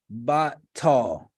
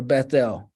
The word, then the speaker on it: Bethel: And he called the name of that place Batal, or Bethel, as we pronounce it. Batal in Hebrew.